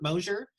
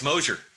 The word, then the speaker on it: Mosier: Many of my students at Port Angeles High School will be familiar with the name Mosier. Am I pronouncing that correctly? Yes, Mosier.